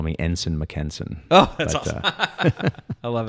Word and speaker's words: Mackensen: And the last name is spelled Mackensen, Mackensen. It's just you're pronouncing it wrong. It's Mackensen. It's how you pronounce that.